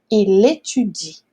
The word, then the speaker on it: il étudie: Então o L aqui vai juntar com o E. Então a gente vai falar uma palavra só. Il étudie, tá certo?